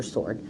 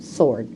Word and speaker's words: sword: how do you spell sword it has a silent W in it honey you spell it